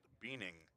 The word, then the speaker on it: Buening: Buening. I was told by head coach Cody Gaskell. It's pronounced Beaning, which is what R.J.